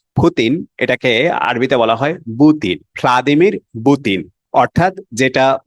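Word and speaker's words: بوتين: এটাকে আরবিতে বলা হয় বুতিন। খালাদিমির বুতিন। অর্থাৎ যেটা ভি দিয়ে শুরু হয়েছে সেটা আরবিতে উচ্চারণ হয় পা দিয়ে।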